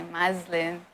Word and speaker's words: Maslin: you see me on a street you say muslin and then my Instagram is also Muslim underscore